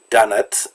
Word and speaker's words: Dönitz: is kind of strange dönitz sounds a lot like doughnuts and if you look